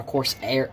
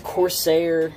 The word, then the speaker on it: Corsair: you can see right there it's made by coarse air Corsair please I don't know how you say